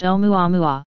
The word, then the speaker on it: Oumuamua: through the solar system an object called whom you amou a-- pronounced omoi wa has gained a surprising